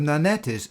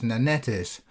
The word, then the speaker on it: Nannetes: I am pronouncing as Nanetes, this being the name used by both Julius Caesar and the Latin writer Pliny. Today the French would perhaps pronounce this word as Nonnet.